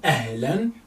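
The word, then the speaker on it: أهلا: a ya hala, ya hala, ya hala, mean ahlan wa sahlan.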